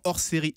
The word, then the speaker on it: Orséry: Et maintenant, Hors Série aimerait changer. Hors Série, ça s'écrit O-R-S-E-R-Y.